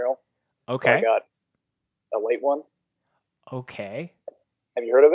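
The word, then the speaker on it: Ale-8-One: So it's Ale 8-1, but it's pronounced a late one.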